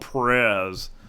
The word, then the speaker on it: Prez: It's going to be called Prez, spelt with a Z. So it's going to be like Fez, but you play the Prez.